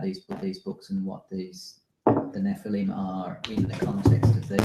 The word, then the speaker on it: Nephilim: Nephilim. Okay, Nephilim. Okay. Is that how it's spelt in these?